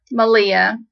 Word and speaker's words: Malia: She learned from Malia, rhymes with Maria, and I'm glad they passed their knowledge on to me because yay.